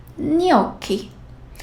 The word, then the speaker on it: gnocchi: If there is G, then the next letter is N. How about that? Here is a tricky one. GN. Gnomo. Gnocchi. So it sounds like the one in Spanish.